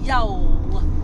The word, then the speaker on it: Youghal: blue in the car on the way to Yol y I know that's how they told no